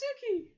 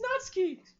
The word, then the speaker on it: Natsuki: only know a few hey that's not sookie that's natsuki let me say it